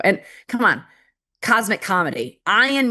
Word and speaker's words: Ian: Ion means charged particle, and it's spelled IAN. It's just the Scottish pronunciation and God's joke.